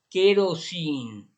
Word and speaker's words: kerosene: Gessner, ok, and then kerosene, el que tiene la primera E, en inglés se pronuncia E. Kerosene y luego la ENE al final, esa sí queda como I.